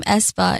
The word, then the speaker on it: aespa: what does espa mean so um our name espa is spelled a e s p a and um